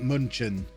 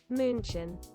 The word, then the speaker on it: München: We were taught Munchen. That's not how you say it. You're saying it wrong.